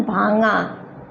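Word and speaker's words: ভাঙা: यहाँ पे जी का उच्चारण, ग का उच्चारण नहीं करना है, क्या बोलना है, भांगा, अंग, भांगा ऐसे।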